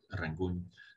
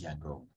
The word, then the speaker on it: Yangon: the chinese perspective and yangon reflects the pronunciation of the name of that city in burmese rather than americans so american means it's rangoon and in burmese it's yangon which got um spelled